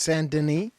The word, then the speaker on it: Saint Denis: It's pronounced Saint Denis.